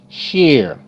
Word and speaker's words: share: Share, sh, air, share, share. E is silent.